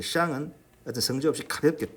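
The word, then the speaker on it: 上: 샹 할 때 이 시어 소리는 좀 혀를 안쪽으로 이렇게 감고 내는 시어시거든요. 샹 SH입니다.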